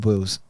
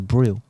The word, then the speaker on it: boil: You know, yesterday, do you know how I used to pronounce it? Go on. I thought it was broil. This guy's so And I said it to my friend while we were lowering our IQ, and then she started laughing. She was like, "That's not how you say it. It's boil."